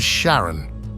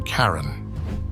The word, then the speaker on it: Charon: to his wife Charlene he pronounced it as Sharon rather than Karen not much was known